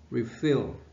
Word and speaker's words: refill: Từ này ta chú ý trọng âm nó rơi vào tiết thứ hai. Refill.